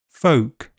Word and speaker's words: folk: Elf selves health Welsh help bulb bolt sold milk belch bulge kiln film and L is silent in some words calm palm Arm salmon half chalk talk walk folk yoke would could kernel.